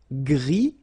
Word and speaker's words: gris: Gris, don't pronounce the S, but then for the feminine form, grise.